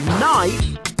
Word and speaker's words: knife: This is another example of the KN string in which the K is silent.